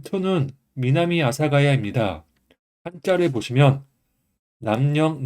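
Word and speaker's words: 南阿佐ケ谷: 그래서 합쳐 주면 독과 음독 음독가 예외 합쳐서 미나미 아사가야 미나미 아사가야라고 읽혀집니다 m 3은 신코엔지 있니다 일본은 발음을 읽으면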